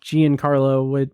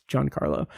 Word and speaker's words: Giancarlo: name out loud, and I've always pronounced it in my brain Giancarlo, but it's Giancarlo.